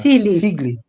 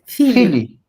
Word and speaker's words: Figlie: É assim mesmo que pronuncia o sobrenome, professora? Figli. Figli.